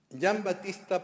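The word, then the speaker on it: Giovanni Battista: importancia en esta afirmación Jan Batista p es es la forma correcta de pronunciación del nombre de este posterior almirante y alcalde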